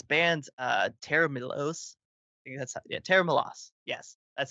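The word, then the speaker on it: Tera Melos: pedals like this band uh tara milos yeah tara milos yes that's how you pronounce it it's a weird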